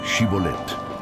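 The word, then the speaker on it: Shibboleth: Di Shibolet. Los efraimitas, por su acento, no podían pronunciar la sh y decían Shibolet.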